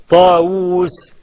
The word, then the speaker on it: طاوس: ما هو س داوود احنا بنكب بواو واحده وهي بتتنطق او بالاصل تتنطق بثنين واو لما تقول داوود د الف و وو دال طاووس ط اف و وو س ها لكن احح بيكتبها داوود طاوس بواو واحده قال ده عمرو ده